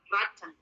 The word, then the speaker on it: rotten: O-nya jadi A. Rotten.